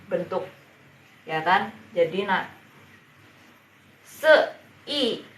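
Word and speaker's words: 四: yang tadi se nah bacanya se gitu ya se nada keempat jadi menyentak se gitu Halo salam kenal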